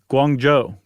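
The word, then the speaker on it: Guangzhou: Guang Joe.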